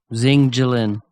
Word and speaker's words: Jinlian: So Jillian Zing Jillian.